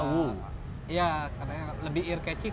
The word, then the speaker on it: Wu: Marga gua tuh, pakai H. Nah, cuma Bacanya Wu.